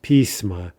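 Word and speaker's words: письма: Pismo, plural, letters, pisma.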